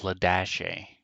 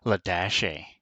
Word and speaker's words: Ladashay: she was called and her name was ladashi and she would get really annoyed with teachers who didn't know how to pronounce her name it's ladashay i'm like okay i